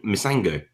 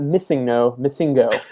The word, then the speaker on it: Misango: And we now know the new character is a character called Misango. I believe that's how you pronounce it. Like for everybody listening, no, not Misingo.